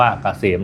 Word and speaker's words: KCM: แอด นำ หน้า นะ KCM อ่าน ว่า เกษม นะ ครับ สำหรับ ท่าน ที่